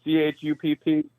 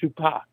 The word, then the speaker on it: Chupp: I've commented a couple times, and you're like, I don't know how to pronounce it, and it doesn't have an accent over the P, so it's not Chupa.